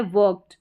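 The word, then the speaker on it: worked: अब यह है वर्क्ड। वर्क्ड ट साउंड आ रहा है। आप खुद से प्रोनाउंस करेंगे। पढ़ेंगे तो समझ में आ जाएगा। अगर इसको वर्क्ड करके पढ़ेंगे। अगर हर जगह आपको लगेगा इ डी लगा है। लास्ट में डी है। ड साउंड आएगा तो यह गलत प्रोनाउंसिएशन निकल कर आएगा।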